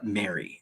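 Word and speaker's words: Mairi: sarah louise bates for mary and i think that's how that's pronounced m-a-i-r-i and that's from england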